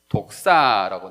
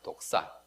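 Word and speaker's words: δόξα: 헬라어로 쓰여져 있는데 헬라어에서 영광을 찾아보면 영광이 뭐로 나오냐면 독사라고 나와요. 독사. 따라해 봅시다. 독사. 예. 뱀이 독사. 무은 독사가 아니고 예. 헬라어. 발음이 독사라는 겁니다.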